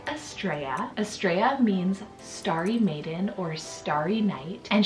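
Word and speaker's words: Starri: Also, when we were choosing between like a girl's name for Aries, his name would have been Starry, so spelled S-T-A-R-R-I, I think is how we would spell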